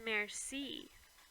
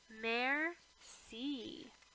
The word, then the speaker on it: merci: you in French it's merci you say it like this mayor C that evening I tell